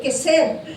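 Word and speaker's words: chesed: Yung sa ibang ang ibang pronunciation daw ay kiseb c H e s e d.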